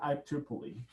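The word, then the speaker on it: IEEE: i e e e so we usually pronounce it iple e iple e has defined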